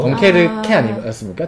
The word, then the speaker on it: 덩케르크: 덩케르크 같은 경우에는 근데 아나백님은 계속 덩케르크를 덩케르케라고 프랑스 발음을 하시는데 뭐가 있어 보이려고 있습니까? 그러는 거 아닙니까? 요즘에 이런 사람들이 많대요. 덩케르케 아니었습니까? 덩케르크입니까?